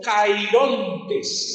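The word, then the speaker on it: χαίροντες: Esa palabra gozosos viene de una palabra griega y en el griego se pronuncia algo así como cairontes. Cairontes con K.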